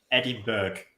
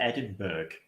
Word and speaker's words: Edinburgh: awful thing you're irritating the Americans say Eddie Burke I want to rip their heads off I hate it it's awful have you gone to Edinburgh that that sounds like